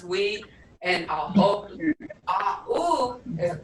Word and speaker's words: ue: U-E is pronounced we.